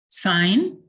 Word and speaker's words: sign: barrow stay with us why do we not hear the g in sign you don't need to answer it's just the traditional way it's been pronounced in the english language there are a lot